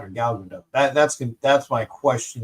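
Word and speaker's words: Gal Gadot: The last is pronounced with a soft t similar to boat or or dotes according to GQ.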